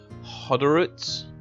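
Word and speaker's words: Hodorowicz: I have to remember how to pronounce his last name. It is Luke Hoderitz.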